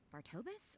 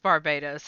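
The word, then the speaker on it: Barbatos: Wait, was it Bartobus or was it Barsabedo? I feel like I said it wrong again. It's just Barbados, actually.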